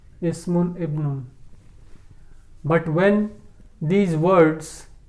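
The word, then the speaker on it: اسم: As here the sentence is beginning, so Hamza will be pronounced Ismu. But here this word comes in the middle of the sentence, so while pronunciation this Hamza will be dropped, so it will be pronounced as Wasmul binti.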